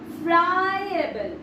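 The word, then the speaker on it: friable: ফ্রাইয়েবল, ফ্রাইয়েবল, ফ্রাইয়েবল, ফ্রাইয়েবল। যদি একেবারে উচ্চারণ করতে না পারছো তখন কিভাবে বলবে? Fry plus অ্যাবল, ফ্রাইয়েবল, ফ্রাইয়েবল।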